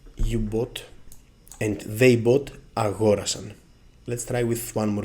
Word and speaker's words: αγόρασα: Λοιπόν, before we start checking the word endings, it's very important to say that the stress on the simple past moves one syllable to the left. Αγόρασα for the first person.